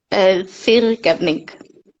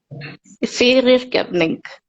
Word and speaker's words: fyrirgefning: Fyrirgefning. Say it again. Fyrirgefning.